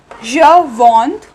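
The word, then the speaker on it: je vends: So the pronunciations like je vond, tu vond, we do not pronounce S. ठीक है, S is silent in all these.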